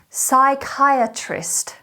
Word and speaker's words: psychiatrist: the fourth word is psychiatrist psychiatrist psychiatrist psychiatrist is spelt p s y c h i a t r i s t notice how the p is silent this is a noun